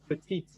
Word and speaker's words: petite: But if I say the lady is small, the lady petite. So I put an E after the T and then I pronounce that last T. If it's a woman, you will pronounce the TE, right?